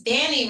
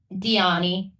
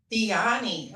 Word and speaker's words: Dyani: It's Danny, right? Diani. Diani. Okay. Diani almost rhymes with Leilani.